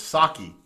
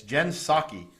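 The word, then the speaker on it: Psaki: name up but it's saki the the p is silent it's jen saki and her circle backs from the press i've said before and i mean it i wish jin saki all the best it's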